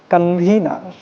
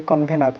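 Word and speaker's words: convener: Okay, here comes কনভিনার। তো আমরা যখন কোনো অনুষ্ঠান হয় বলি যে এটার আহ্বায়ককে, তার ইংরেজি বলি কনভেনার, কিন্তু এটা কনভেনার না, ইটস কনভিনার। কনভিনার।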